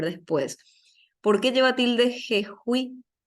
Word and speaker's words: Jejuí: ¿Por qué lleva tilde jejuí? Jejuí, y porque es una palabra aguda que termina en vocal, jejuí.